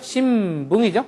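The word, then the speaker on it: 新聞: 마바빠 앞에서는 미음 발음함이라고 했죠? 신붕이죠?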